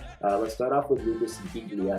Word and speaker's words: Biglia: Let's start off with Lucas Biglia, and yes, you did pronounce the G.